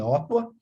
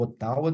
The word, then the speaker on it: Ottawa: apesar da capital do Canadá ser Ottawa, ou Ottawa, dependendo da pronúncia de cada um.